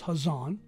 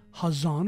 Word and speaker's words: Hazan: Right down to the book of Revelation known as Hazan. Some people spell it with a CH. Still gives you the ha, not the ka. Hazan, or Revelation chapter 22, verses 18 through 19.